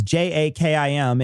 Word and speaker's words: JAKIM: Got a message from Abdul, and Abdul wanted to let us know that JAKIM, which is what we pronounce, it's JAKIM, is actually, I said it was a he.